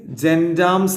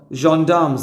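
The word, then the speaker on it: gendarmes: സംസാരിച്ചുദവഫഷദർ കോഫിവദചീഫ് ഓഫ് ദ ഇവിടെ നോക്ക് ജൻാംസ് അല്ലട്ടോ ജോാംസ് എന്നാ വായിക്കുക ഫ്രഞ്ച് വേഡ ജോാംസ് അപ്പർ അവരിങ്ങനെ കോഫി ഇങ്ങനെ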